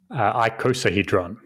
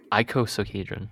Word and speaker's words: icosahedron: how do you say it i sell-- hydron icosahedron icosahedron okay I could say so so what is